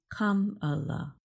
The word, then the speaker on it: Kamala: Democratic National Convention to teach the crowd how to say her first name, pronounced Kamala.